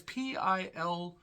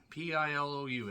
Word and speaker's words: Pilou: Even Pillow Abstract, who, again, can't pronounce his name. It's Pilou. It's Pilou.